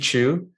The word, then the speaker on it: Chu: So in Chinese, I believe it's Chao, but I know that no one pronounces it that way. So it's Steve Chu.